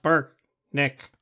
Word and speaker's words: Brknk: leader turned to me my name is barkneck pronounced burke nick and spelled b-r-k-n-k and i'm larry weaver